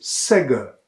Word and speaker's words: sägge: Bei sägge steht das G zwischen zwei Vokalen und wird daher stimmhaft als sägge ausgesprochen.